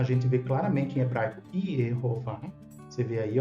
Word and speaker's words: יְהֹוָה: Alguns dizem que o nome é impronunciável, mas na verdade é de conhecimento de quem estuda o hebraico, bíblico, massorético, que está preservada a pronúncia Yehová claramente.